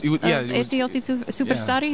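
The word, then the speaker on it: Eesti Superstaar: Eesti Superstari. Am I pronouncing that right?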